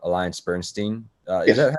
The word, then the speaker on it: AllianceBernstein: And you're working at a place called Alliance Bernstein.